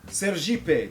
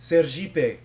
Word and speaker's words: Sergipe: Sergipe, because, you know, in Portuguese, ser means be, and Jeep is how you pronounce it.